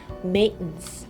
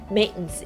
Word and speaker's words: maintenance: 그 아저씨가 메인테너스 발음을 약간 maintenance 거의 막 메인테 약간 요런 소리가 안 들리고요. maintenance 요런 소리로 이제 좀 들리는 경향이 있거든요.